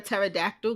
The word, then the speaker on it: pterodactyl: can't you hear a pterodactyl going to the bathroom cuz the p is silent shut up listen I tell